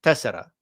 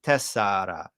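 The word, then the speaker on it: τέσσερα: Tessera in modern Greek, tessara in ancient Greek. Nobody's going to say tessara, right? Nobody's going to spell that number with tessara in modern Greek. They're always going to say tessera with epsilon.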